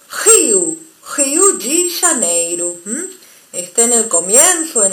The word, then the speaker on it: Rio de Janeiro: En ambos casos, sea una o sean dos, la R o R se va a pronunciar como nuestra J. Por eso, Rio de Janeiro.